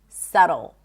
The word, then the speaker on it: subtle: And subtle.